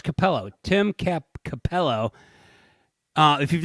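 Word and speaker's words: Cappello: you say his name the sex guy uh capilello capello oh it's capello tim capello uh if you've never seen this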